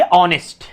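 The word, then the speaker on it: honest: सी is very ऑनेस्ट, इसको ऑनेस्ट नहीं पढ़ेंगे, ठीक है ना, इसको क्या पढ़ेंगे? ऑनेस्ट। क्या पढ़ेंगे? ऐसे इसकी प्रोनाउंसिएशन होती है, ऑनेस्ट, ऑनेस्ट, ठीक है, ऑनेस्ट, ठीक है ना।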